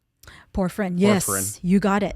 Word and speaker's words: porphyrin: Forephrine? Porphyrin, yes, Porphyrin.